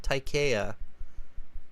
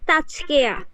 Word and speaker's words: Tajkea: Is it Tajkea or is it Taikea? It's Tajkea. Tajkea.